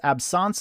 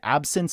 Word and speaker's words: absence: I initially learned it as absence seizures, but people also say absence seizures. It's the same thing.